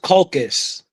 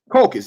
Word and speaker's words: Caucasus: No, it's pronounced Caucasus. Caucasus, yeah, I'm saying it, Caucasus.